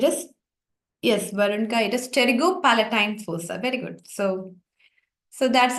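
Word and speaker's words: pterygopalatine fossa: into it's a forer starting with P where p is silent can someone type the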